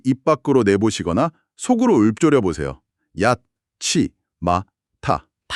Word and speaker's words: やっちまった: 치마타. 발음이 굉장히 찰지죠? 네. 뭔가 입술에서 툭하고 튕겨 나가듯이 빠르고 강렬하게 발음되지 않나요? 확실히 발음 자체에서부터 특유의 리듬감이 좀 있습니다.